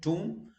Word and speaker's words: tomb: You don't say tomb. No, B is silent. Tomb.